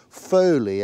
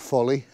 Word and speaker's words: Foley: It shows as Foley, F-O-W-L-E-Y house on an 1898 map. I'm hoping it's pronounced Foley and not Folly.